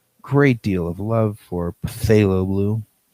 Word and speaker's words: phthalo: blue i'm just saying phthalo blue the p is silent phthalo i will not let